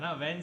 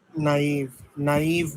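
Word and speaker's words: naive: Question number 4 question number 5 है ना, when she was young and नेव। नाइव बोलते हैं नहीं इसको। नेव बोल रहे हैं भाई। भाई नाइव बल्कि होता है मैं आपको बताऊं भाई, pronunciation।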